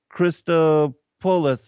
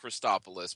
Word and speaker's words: Christopulos: honored to have as guest with me Jonathan Christo pois I believe is how you pronounce his last name um better known as